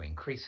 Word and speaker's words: increase: our sales in europe we need to increase our sales to increase our sales to increase our sales which syllable the first one or the second one the second one the